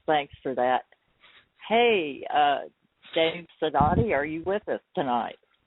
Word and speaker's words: Sidoti: And it is pronounced Sidoti, so some people say Sidoti, yeah. Sidoti.